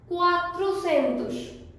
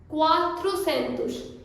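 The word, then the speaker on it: quatrocentos: Similarly we have 300 को Portuguese में बोलेंगे त्रेजेंतुस, त्रेजेंतुस, दुजेंतुस, त्रेजेंतुस, quatrocentus, quatrocentus.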